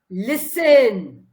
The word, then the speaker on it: listen: d e c i d e d decided spell it and the last word listen l i s t e n listen l